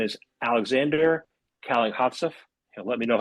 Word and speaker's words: Kalankhodzhaev: Yeah, it's pronounced Kenjive, but I know it's very complicated, so no no worries.